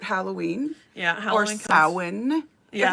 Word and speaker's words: Samhain: it's about Halloween, Yeah, or Halloween comes- Samhain. Yes. If anyone doesn't know how to pronounce that Celtic word for Halloween, it's Samhain.